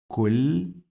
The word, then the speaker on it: كل: We pronounce this lam 2 times. Kulli, kulli. So that's why it has shadda, and the second sound is with kasra.